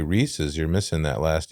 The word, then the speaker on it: Reese's: Reese's? Races?